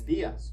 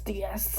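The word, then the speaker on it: días: And notice that dias has an accent on the I, so stress it. Try it. Buenos dias. Buenos dias.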